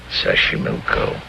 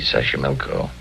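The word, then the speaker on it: Xochimilco: mexico city toxico puebla sashimilco okay so you pronounce it better than i do it's easy sasha milko that's where the streets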